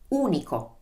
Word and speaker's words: unico: and improve your italian okay let's practice the pronunciation of the u let's take the word for unique in italian that is unico so notice how this always happens i talked